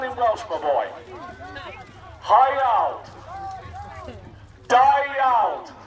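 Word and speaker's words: Da iawn: Dyald. Sounds like die young, doesn't it?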